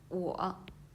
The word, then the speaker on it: 我: Okay, so when you read this finals and your lips is rounded. Your lips is round. It's round. Okay. O. Okay, and the example words is 我.